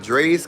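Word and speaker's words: Drai's: And then the 20th through the 22nd, I will be at Dre's Comedy Club in uh, Las Vegas, Nevada. Y'all get y'all tickets. Dre is spelled D R A I S.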